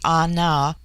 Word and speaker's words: Ana: Buller Litton chapter 10 the word Ana pronounced broadly Ana corresponds with our plural